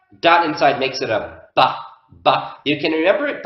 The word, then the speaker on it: ב: It sounds like ba, ba, ba. But without the dot, it's v. And this makes sense phonetically because the letter ba and va are very closely related. They're both made with the lips.